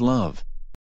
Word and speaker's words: ♥: When the heart symbol is used at this time, it is traditionally pronounced as love. As in I love New York for I love NY.